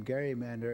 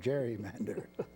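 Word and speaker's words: gerrymander: Gary plus Mander and it became Gary Mander and then along the way because people didn't realize that the G was a hard G it became Jerry Mander so we we take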